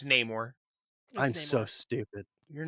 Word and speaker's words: Namor: got buried at Sea okay Namor is it not no more I I don't know what this is supposed to be pronounced it's Namor I'm so stupid you're